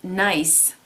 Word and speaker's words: Gneiss: The stone here is Gneiss.